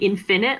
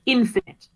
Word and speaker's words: infinite: like in it and infinite like you say it infinite not infinite the the emphasis is on that first syllable um although i appreciate